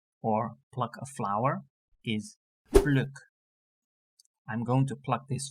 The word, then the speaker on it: pluk: A pluck of hair or pluck a flower is pluk.